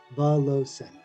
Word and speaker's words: Valovcin: uh but yes so the second v is silence so it's pronounced vallossa us is our featured